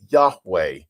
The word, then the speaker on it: Yahweh: And his name is, we sort of say it in the English way of saying it, is Yahweh. Yahweh. It's actually 4 letters in the Hebrew, but we would pronounce it Yahweh or Jehovah if you want to use that phrasing.